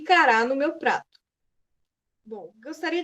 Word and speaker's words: cará: E cará no meu prato. Eu não sei o que é cará, mas eu sei que é uma comida e eu sei que cará tem a última sílaba tônica.